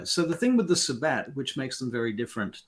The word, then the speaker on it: Sabbat: always get confused anyway then there is the Sabbat um or the Sabbat or however you want to pronounce that s-a-b-b-a-t not to be confused with Black Sabbath um